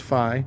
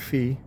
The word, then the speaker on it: Phi: So, and it's pronounced Phi, not Fee. Phi as in fidelity.